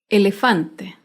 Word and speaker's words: elefante: de una palabra grave sin tilde elefante elefante se acentúa en la penúltima sílaba pero no lleva tilde porque termina en vocal elefante otro ejemplo de palabra